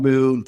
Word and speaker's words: M6N: And so, for instance, one of the brands that I'm working on, it's called Moon, or it's spelled M6N.